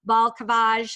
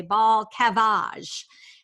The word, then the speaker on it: Balcavage: Balcavage. How do you like that? Except that's not how you say it. You say Balcavage.